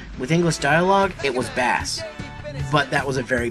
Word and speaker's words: Bass: Near the end of the intro stage, we meet a mysterious new character known as Bass, or Bass. Okay, the pronunciation of this character's name has been debated for a long time.